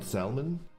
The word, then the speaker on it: salmon: like mind flood me why don't people pronounce the L in Salmon I don't know I